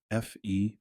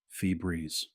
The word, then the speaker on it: Febreze: Febreeze, like a breeze, a fresh breeze, fee breeze.